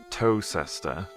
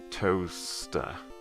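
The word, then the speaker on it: Towcester: it up again the the e s part of that word all just kind of contracts into one s sound so instead of toe sester it's just toaster that's often the case with uh british place names like that if there's a ces just contract the whole thing into one s sound toaster american english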